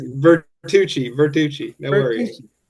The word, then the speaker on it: Vertucci: But I have the honor to be in the room with my associate Fid Fiduchi. Am I pronouncing that? I messed your name up. No worries. Vertuchi.